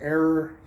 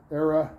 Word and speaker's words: era: wanted to keep it the error era specific that's the correct way to say it wanted to look like